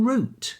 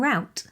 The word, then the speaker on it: route: probably use the same route I think this might be pronounced differently in America to differentiate between routes as in square root or the roots of a tree and root as in